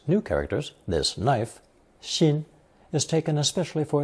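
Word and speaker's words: 辛: This lesson is another installment introducing characters containing that ceremonial knife, pronounced xin.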